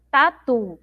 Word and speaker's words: tatu: A sílaba mais forte é o tu lá no final. Tatu.